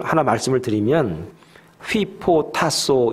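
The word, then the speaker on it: ὑποτάσσω: 를 하나 말씀을 드리면 휘 포토 타 소 이렇게 발음을 합니다 이 단어는 어떤 상황에서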